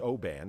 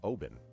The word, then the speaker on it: Oban: It's not pronounced Oban, it's Oban.